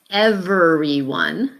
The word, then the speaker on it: everyone: And this one is everyone, everyone. So really 4 syllables. We tend to pronounce it everyone.